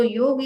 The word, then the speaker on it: yoga: If you are uttering any Indian terms, then you have to learn that what is the right pronunciation. If we say yoga, that doesn't mean yoga. So yoga is the word which ends with a sound and not a sound.